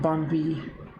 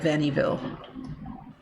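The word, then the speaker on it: Vaniville: Bon V. Like, that's, I mean, that's the French pronunciation. Every time I look at it, though, I want to call it Vannyville.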